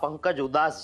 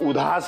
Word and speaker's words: Udhas: I said, it's not Pankaj Udas. It's Udhas. It's spelled as 'dha' and not 'da'.